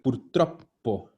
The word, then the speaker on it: purtroppo: Ya, ojo a la pronunciación. Purtroppo. Tiene doble P.